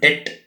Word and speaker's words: debt: services, interest charges on debt, etc. I think you know the meaning of the word debt, DEBT, B is silent.